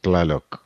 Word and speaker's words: Tlaloc: I'm pronouncing it Laylock. The T is silent. I guess. Got it. Okay. So unless Gabriel, you know how to properly pronounce. I think it's Tlaloc. It's Tlaloc. Tlaloc.